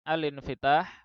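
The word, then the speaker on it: الانفتاح: Kemudian al-infitah, kita baca dengan naqal hamzah pada infitah. Kenapa? Karena hamzahnya adalah hamzah wasal.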